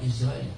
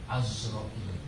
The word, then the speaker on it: Azrail: Wa Azrail, yang benar bacanya bukan Israel, Azrail.